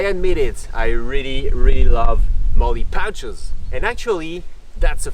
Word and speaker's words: MOLLE: Okay, and for those who are not tactical, M-O-L-L-E, pronounced MOLLE, is the acronym for modular lightweight load carrying equipment.